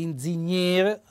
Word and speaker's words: ingegnere: beh questo è l'ingegnere vi faccio notare gli accenti ingegnere ma cento tonico cade sulla e naturalmente l'accento fonico e chiuso la volta scorsa ho due